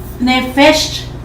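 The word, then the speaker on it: נפש: era una alma alma en hebreo quiere decir nefes es se escribe n e p h e s h nech Eso quiere decir alma era un alma viviente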